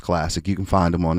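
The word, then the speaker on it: CLSC: uh Pasadena classic and that's C LSC pronounced classic you can find them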